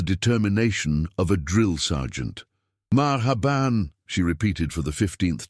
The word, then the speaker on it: Marhaban: Marhaban," she repeated for the 15th time, her lips moving slowly and deliberately. "The H is pronounced from the back of your throat like you're clearing it gently." "Maha ban," Marcus attempted, sounding like